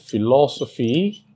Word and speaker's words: philosophy: Now if the word ends with the suffix, and what's the suffix? PHY is the suffix, then the main or primary stress falls on antepenultimate syllable, that's third to the last syllable.